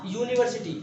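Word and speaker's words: university: कुछ वर्ड्स ऐसे होते हैं जो कि वोवेल से शुरू होते हैं, लेकिन उनका उच्चारण जो रहता है, उनका प्रोनाउंसिएशन कॉन्सोनेंट होता है। जैसे आ यूनिवर्सिटी। अब आ यूनिवर्सिटी में यह कैसे उच्चारण हो रहा है, यू यू यूनिवर्सिटी हम ऐसे लिखते हैं ना, यूनिवर्सिटी। ठीक है, तो ये यूनिवर्सिटी में यू से स्टार्ट हो रहा है इसका उच्चारण, इसलिए इसके सामने हम आ लगाएंगे।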